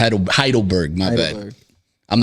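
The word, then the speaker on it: Heidelberg: Turkish yeah man uh uh former citizen of heidenberg you know what I'm saying heidleberg my bad I'm not familiar with the termin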